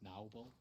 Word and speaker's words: Noble: It's pronounced Naubel.